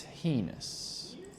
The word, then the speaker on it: heinous: Heinous or heinous. Both pronunciations are acceptable.